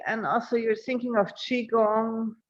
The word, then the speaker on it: Qigong: Tai Chi, and also you're thinking of Qigong, Qigong, yeah.